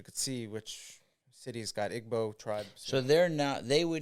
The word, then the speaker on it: Igbo: So they would not, you say Igbo and Ebo, is that the same thing? Right, spelled Igbo, but I think they pronounce it Ebo, like Hebo, like Hebrew. Okay. Ebo.